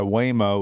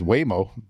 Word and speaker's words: Waymo: Self-driving taxi operated by Waymo was recently involved in a pedestrian accident. Waymo? That's what it says. Waymo.